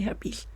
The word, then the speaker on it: herpes: some people say helped some people say her piece but the actual or the correct pronunciation is actually herpes but it doesn't really